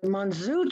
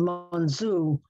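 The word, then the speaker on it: monzù: dishes these chefs were called monzu which was probably a neapolitan pronunciation for monsieur from assure and even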